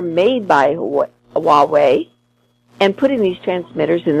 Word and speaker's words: Huawei: with a Chinese company called Huawei I think is how you pronounce it it's spelled h ua w e AI and intelligence agencies in